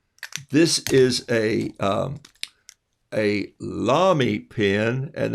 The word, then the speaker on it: Lamy: is a um a lamy pin and it's pronounced vomi it's spelled l-a-m-y and it has lamy